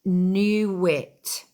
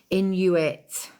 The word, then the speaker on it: Inuit: Pronounced Newit. Newit. What's pronounced Newit? It's pronounced Inuit.